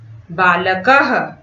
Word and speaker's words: बालकः: बालकः, मूषकः, अश्वः में जो 2 बिंदु हैं उसका उच्चारण हम ह की तरह करते हैं, बालकः, और इसे संस्कृत भाषा में विसर्ग कहते हैं।